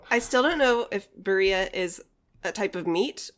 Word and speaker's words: birria: I think I put the emphasis on the second I, birria, and he said birria.